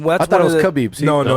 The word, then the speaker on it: Khabib: But I mean, and it's Khabib, not Khabib. No, but I mean, that's I thought it was Khabib. No, it's Khabib. In America, it's Khabib. Yeah, so the K is silent.